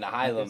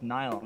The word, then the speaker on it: Nihilum: I didn't want to say Nihilum because you guys are having me pronounce it wrong. It's Nilum.